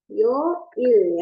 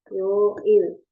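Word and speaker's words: 요일: Oke, bacanya Yo-il ya. Yo-il.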